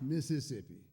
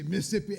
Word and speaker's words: Mississippi: Now, I know it's pronounced Mississippi, but I've learned that when you're down that way, if you take the time to say all the syllables, they might ask you for your passport and you'll never get out of there. So you just say Mississippi and head on out.